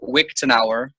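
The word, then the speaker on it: Wiktenauer: a there's a website called wick tan our like Wikipedia it's spelled WI que te and a u er I believe Rick tanara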